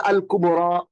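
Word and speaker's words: الكبرى: তার আগে একটা জবর থাকবে এবং এটা একটা উচ্চারণ হবে টানের মত। যেন উপরে একটা খারাটা ছোট্ট আলিফ আছে এরকম মনে হবে। তাহলে আল কুবরা আল আসুরা আল কুবরা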